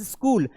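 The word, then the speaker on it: school: उसी प्रकार ये जो वर्ड है दैट इज स्कूल। अब मैं भी आज तक कंफ्यूज हूं कि मैं स्कूल तो रोज गया, लेकिन ये एच का उच्चारण मैंने कभी नहीं किया क्योंकि एच साइलेंट है।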